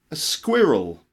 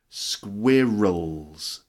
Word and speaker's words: squirrel: throat today sore throat okay here's number two a squirrel a squirrel okay one of those lovely little